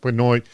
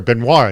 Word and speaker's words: Benoit: just want to quote Patrick Benoit with CBRE, or Benoit, I'm sorry, Benoit is how you pronounce his last name.